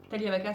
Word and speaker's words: Taglia: C'est vrai, genre, Talia c'est impossible à prononcer. Déjà, on prononce pas le G, c'est un nom italien et on prononce pas le G.